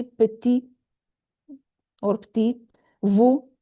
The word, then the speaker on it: petit: Petit, not petite, petit.